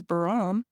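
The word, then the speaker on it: 바람: oh my goodness Faron bar a i well sounds this here is an but it sounds like an L bam but they're saying this is baram well you can see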